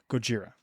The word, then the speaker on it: Gojira: to talk about Goa Gojira Gojira that's how that's how the guy pronounced it I'm like that's how the Japanese pronounce Godzilla but all right let's